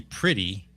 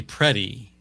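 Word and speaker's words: Pretti: Now, his name is spelled P re ti. Yes. But I'm trying not to say pretty. I'm trying to say prey.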